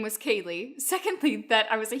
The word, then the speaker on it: Kali: you don't already know my name is kaylee it spelled kaal I I know it spelled like Kali and I don't pronounce it that way don't ask me why